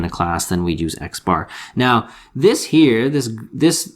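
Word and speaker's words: x̄: the symbol we use for a sample as x bar that's how it's pronounced so right there that is called x bar you'll get the lingo and we use it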